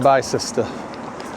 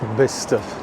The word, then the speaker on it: Bicester: Right, we're approaching the centre of Bicester. It is Bicester, not Bicester, like I used to think it was. Some strange spelling, but it is pronounced Bicester.